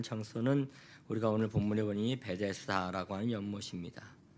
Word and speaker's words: 베데스다: 이 베데스다라고 하는 것은 헬라어 발음입니다. 헬라어 발음. 히브리어 명칭인데 헬라어 발음으로 하는 게 베데스다예요. 우리나라에도 그 바리케이트라고 하는 게 있잖아요. 그 영어로 발음하면 바리케이트 이렇게 돼야 돼요. 바리케이트 이렇게 돼야 되는데 한국말로 하면 바리케이트 이러잖아요. 약간 이런 식인 거예요. 히브리어를 헬라어로 발음하니 베데스타라고 발음했고 헬라어로 그대로 발음하면 베데스다라고 해야 된단 말이죠.